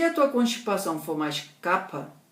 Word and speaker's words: kapha: A linhaça tem um efeito principalmente sobre kapha, ou kapha, que seria a pronúncia certa.